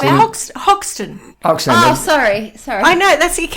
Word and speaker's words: Hoxton: No, it's in Oxton, which is a very, very similar setup.